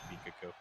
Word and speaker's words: Pikachu: But that's the correct way that you say it is Pikachu.